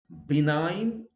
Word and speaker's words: benign: When G follows an N, it is silent. Okay, and the examples are Dane, foreign, no, gnome, benign, sign, or yes, sign, malign, design, resign, feign. Words where H is always